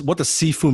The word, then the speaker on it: Sifu: And I do have a lot of students who ask me, like, what does Sifu mean in Chinese? It's actually made of two words. C-S-I-F-U, Sifu, that's how you pronounce it.